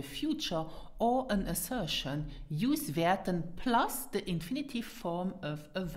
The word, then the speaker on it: wäerten: Pronounce it werten.